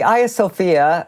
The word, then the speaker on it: Hagia Sophia: So the Hagia Sophia, and this is the Turkish pronunciation of the building, was built by the